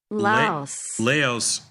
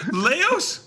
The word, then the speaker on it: Laos: The connect the correct the correct pronunciation has leos rhyming with house. Exactly what I said. Laos. Laos rhyming with house. Laos rhyming with house. Yes. Laos rhymes with house. Yes. Instead of louse.